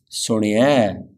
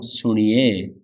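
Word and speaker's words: ਸੁਣਿਐ: Suniya, not suniye. Slight difference, yeah? Not suniye. Suniya. It's got an air sound to it.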